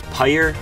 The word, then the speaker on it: Peyer: And by the way, it's Peyer, it's Meyer with a P, so it's Peyer. That's how you pronounce it.